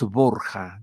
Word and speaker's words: Borja: tiempo de origen español Los Borja digámoslo en español en Italia en Roma le llamaban borgia no para pronunciar Borja borgia y de eso se